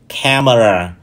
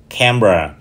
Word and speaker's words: camera: sai từ đầu tiên thường bị phát âm sai thành ba âm tiết camera trong khi Sự thật nó chỉ có hai âm thôi Các anh chị cam và ra camer camera từ thứ hai thường